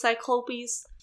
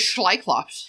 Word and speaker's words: cyclopes: I'm just saying I why are you not pronouncing it right Charlie it's cyclopes I thought it was schops Sops sopies like shy